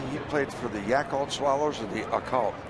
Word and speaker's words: Yakult: Now, did you say he played for the Yakult Swallows or the Occult? Not the Occult. Because, we're getting close to the Yakult.